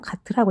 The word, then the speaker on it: GTT: 그리고 이 GTT를 우리가 읽을 때는 보통 가트라고 읽거든요. 그래서 지금부터 산들이는 이걸 가트로 읽도록 하겠습니다.